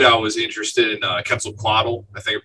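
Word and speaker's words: Quetzalcoatl: was a kid I was interested in uh quetzal coddle I think I pronounced that right yes yeah the uh the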